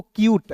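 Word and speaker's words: cute: फिर देखिए दोस्त यहाँ पे सी का आधा क के रूप में उच्चारण करेंगे, UTE है तो इसका उच्चारण यूट के रूप में करेंगे, तो क्या हो जाएगा दोस्तों, क्यूट, ठीक है।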